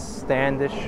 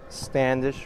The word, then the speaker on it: Standish: now now this is Standish Road Hana rhymes with radish I wonder what the